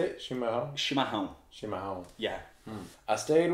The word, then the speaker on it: chimarrão: Chimarrão?